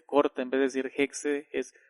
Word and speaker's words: Hexe: el Alemán cuando hay x pues no se pronuncia sino como que se corta en vez de decir hexe es H Okay y el francés se refiera